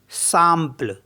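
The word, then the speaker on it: simple: पढ़ते हैं आ जैसे एस आई एम पी एल ई तो इसको पढ़ेंगे हम सापल क्योंकि आई एम को आ करके पढ़ते तो सापल हो गया सापल मीस होता है सिंपल एफ ए आई एम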